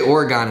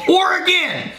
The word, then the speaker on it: Oregon: have Oregon Ohio yeah we say Oregon if people lose their mind they go or again and if you don't say it right I'm gonna stick a